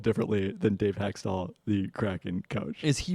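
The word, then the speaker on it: Hextall: you would think so it's pronounced hexall though yes I've not seen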